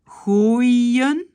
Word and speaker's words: gooien: Donc, on va prononcer moi, koi, gooien, hein, parce que là, on a O, I, un.